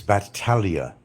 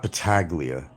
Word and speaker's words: Batalia: It's Batalia. It's batalia, not bataglia or not bataglia. It's batalia like a bat.